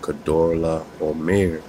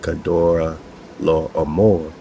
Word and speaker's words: Kedorlaomer: And all the kings of the cities of the plains had served Kedorlaomer for 12 years. And they spell it K-E-D-O-R-L-A, apostrophe O-M-E-R. So you kind of hear that Omer or Amor.